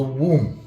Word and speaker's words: womb: The location, the exact location is of course the womb. And the womb simple we would uh because the we write it with wo mb but the b is silent.